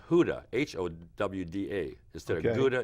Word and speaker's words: Gouda: We call it pronounced Gouda, Right. but it's supposed to be pronounced Huda, H-O-W-D-A. Instead Okay. of Gouda, it's Huda.